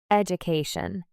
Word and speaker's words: education: Education. Repeat. Education with stress on the CA syllable.